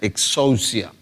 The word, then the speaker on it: exousia: En griego, la palabra autoridad se pronuncia exousia, y la palabra poder es dunamis.